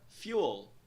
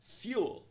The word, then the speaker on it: fuel: Na palavra fuel, nós temos no padrão de pronúncia, na primeira sílaba, o som de vogal 2O', que soa como U. U. Pronúncia da primeira sílaba é, então, fuel. Fuel.